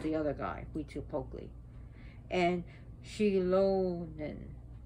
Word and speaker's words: Xilonen: And Xilonen, The X is a she. So it's pronounced different. It's not like a Z or a, it's she.